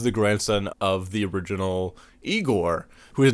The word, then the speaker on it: Igor: The whole cast is great, but I also wanted to highlight Marty Feldman as Igor. No, it's pronounced Igor.